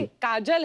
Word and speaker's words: काजोल: काजल है ना, but काजल होता है, काजोल हाँ, मतलब बंगाली में काजोल। बंगाली में बंगाली में ऐसे उसका प्रोनाउंसिएशन है पर सर।